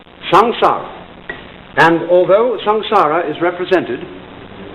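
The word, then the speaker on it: संसार: s a m s a a samsara it's pronounced samsara and although samsara is represented in popular Buddhist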